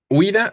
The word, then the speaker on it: huida: Huida. Al pronunciarla, ¿cuál parece sonar fuerte? La I, ¿no?